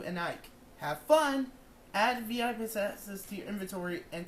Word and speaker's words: VIP: What's VIP? Ike says. He pronounces the acronym as a word rhyming with zip.